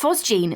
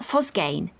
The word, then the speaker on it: phosgene: And it's pronounced phosgene, not phosgane.